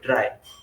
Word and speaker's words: trie: दिन हम कर देंगे ट्री को ठीक है सॉरी ट्राई इसको प्रोनाउंस किया जाता है ठीक है तो इट